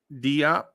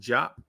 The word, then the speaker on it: Diop: we have keah Bates Diop and I think it's pronounced for my Nigerians it's pronounced JP but the Americans will say di um who else do